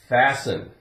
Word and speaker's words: fasten: We have fasten. Now we have S-T-E-N. If we took off the E-N, we'd have fast. Fast. And we pronounce the T, fast. Now we have fasten.